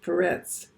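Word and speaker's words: Peres: kingdom has been divided that's a word perez they have an s but sometimes it's pronounced parets we get it with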